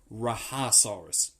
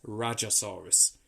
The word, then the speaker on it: Rajasaurus: whilst I remember um I've heard some people call this creature rajasaurus you know pronouncing in the jail with a h sound like it's Hispanic and I can understand that but I do believe um that it is rajasaurus um because the root